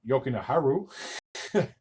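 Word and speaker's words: Jokiharju: 534 of the third Henry yokin yokin Haru I'm pretty sure that's how you say it I'm pretty sure that a lot of the Jays are silent or both the Jays are silent I should say would break the tie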